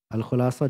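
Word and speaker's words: الخلاصة: Al-Khulasah di dhamma kha'nya.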